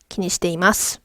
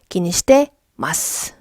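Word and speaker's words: 気にしてます: 실제 대화 에서 는 "ki ni shiteimasu" 대신 "i" 가 생략 되는 경우 가 많습니다 .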